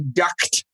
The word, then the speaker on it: duct: They think it's like a duck, like quack? Yeah. That's not right. So whenever I say duct tape, I always overpronounce and enunciate the t at the duct.